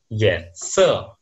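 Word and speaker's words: 颜色: Lanjutnya, aksara ini kalau di bahasa Mandarin dibaca dengan yense.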